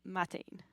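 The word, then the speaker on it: maidin: So instead of majene it would be mine.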